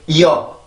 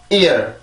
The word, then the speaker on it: ear: 절대 이어 이런 발음이 아니라 ear, ear 이렇게 발음을 해주셔야 돼요.